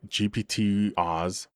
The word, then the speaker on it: GPT-Oz: First up, GPT-Oz rhymes with boss, and honestly not bad.